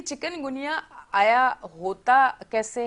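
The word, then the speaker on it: chikungunya: हाँ, तो तलफ़्फ़ुज़ प्रोनाउंसिएशन बनती है चिकनगुनिया।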